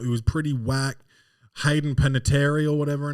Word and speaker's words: Panettiere: do you um can you say pronunciation uh pronunciation hey done pan not here Let's uh press play here Hayden Panettiere it's here oh it's that easy Hayden Panetta